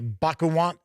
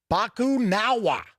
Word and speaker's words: Bakunawa: on a rampage they must track down the bakuwan bakunawa i guess i should say bakunawa i'm sure i still mispronounced it and discover the reason for its